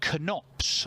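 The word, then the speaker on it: Knops: two at the minute Robbie knots I'm reliably informed today that's how you say his name rather than Ops which is what I was saying all yesterday want a piece of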